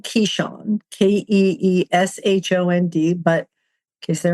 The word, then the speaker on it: Keeshond: It's spelled Keeshond, Keeshond, but in case there are any dog breeders listening, it's pronounced Keeshond.